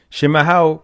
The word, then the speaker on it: chimarrão: Shimaho, pronounced shimaho, is the Portuguese word for traditional yerba mate.